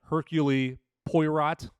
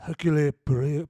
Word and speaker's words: Hercule Poirot: And so this, and her main character here, and I always butcher his name, it's spelled like Hercule Poirot, but they always say Hercule Poirot or Hercule Poirot.